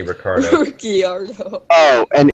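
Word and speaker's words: Ricciardo: to pronounce his name it's spelled riardo but they say Ricardo riardo oh and M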